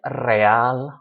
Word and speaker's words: real: So it could be a 2-syllable word like real, royal. We don't stress the re, we stress the al.